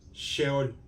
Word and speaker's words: Seol: infierno vamos para allá la primera palabra es Seol y se pronuncia más o menos sheol y sheol es una